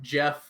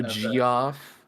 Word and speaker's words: Geoff: That's like Jeff with the G-E-O. Oh, Geoff.